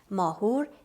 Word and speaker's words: Mahur: of the tasks of persian music and it's spelled like m-a-h-o-u-r dasgo means system mahur is the name of that tesco that we